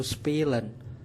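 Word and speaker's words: spielen: yang dijewer bermain dalam bahasa Jerman yaitu spilen spilen spilen yang digambarkan dengan satu pil atau sepil bermain dalam bahasa Spanyol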